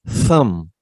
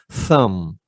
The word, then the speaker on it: thumb: This is thumb, nasal sound, and B is silent. Okay, B after M is silent. So thumb.